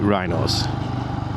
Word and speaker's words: Wrynose: So that was the top of Wrynose, and we call it Wrynose. Okay, I hear some strange pronunciations of this pass.